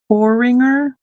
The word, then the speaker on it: porringer: Porringer. Not Por Poringer. Okay. I And I guess I think I've heard people pronounce it like Por Porrer.